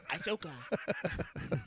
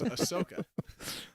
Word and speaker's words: Ahsoka: bit weird you know they say they love this Asoka and I could promise you I can promise you that they love this Ashoka it's Ahsoka oh man what are